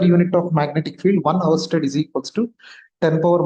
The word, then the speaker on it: Oersted: It is Oersted. Like even though R is there, we don't read it. It is like you read it as Oersted. So this is how we read it, pronounce it as Oersted.